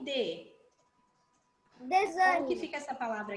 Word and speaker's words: desânimo: Então, é desânimo. Olha só, tem o som de Z, né? Mas escreve com S, né?